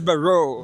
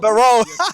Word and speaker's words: Barro: This is Barro. Barro. The first is on the second syllable.